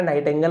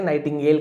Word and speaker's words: nightingale: ऐसा डाउट हो कि मैंने नाइट एंगल बोल दिया था, इसे नाइटिंगेल कहा जाता है।